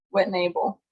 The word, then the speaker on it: Whittnebel: me uh this morning sisters Addison and Kylie whitnepple morning ladies good morning correct me on my name if I'm wrong there but how do you phonetically say your last name what enable so ladies you are headed to the National